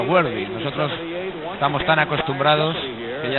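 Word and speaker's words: Worthy: denisail se disculpa ante en realidad se pronuncia wardy nosotros estamos tan acostumbrados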